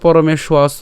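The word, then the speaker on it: পরমেষ্বাসঃ: কেন পরমেশ্বাস উচ্চারণ করলাম? এখানে দেখেন, এখানে কি আছে, অন্তস্থ ব আছে। আর আমরা জানি, ইতিমধ্যে আপনারা জেনে গেছেন, এর আগের ভিডিওতে আমি আলোচনা করেছিলাম যে অন্তস্থ ব থাকলে এর উচ্চারণ কার মতো হয়, উয়োর মতো হয়।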